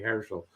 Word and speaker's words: Herschel: This is a bag made by the Herschel Company. Well, I'm Jewish, so I would say Herschel. It's the Herschel Company. There's just a slight difference in how you say it, but there's a difference.